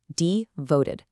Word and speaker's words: devoted: Notice the stress on the second syllable. Devoted.